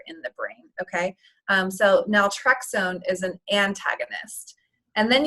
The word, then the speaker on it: naltrexone: So whenever they do use medications for breaking this cycle, how does the drug say, like naltrexone? Is it naltrexone? How do you pronounce it?